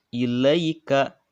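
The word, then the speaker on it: إِلَيْكَ: Dan dibacanya pendek ya, dibacanya lunak dan dibacanya pendek. Ilai, ilai, ilaika, ilaika. Nah, dibacanya selewat ya, karena ini adalah pendek bacaannya. Ilaika.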